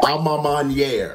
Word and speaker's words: A Ma Maniere: first let me say this that it's actually pronounced alma maniere i've heard people online calling it uh-huh all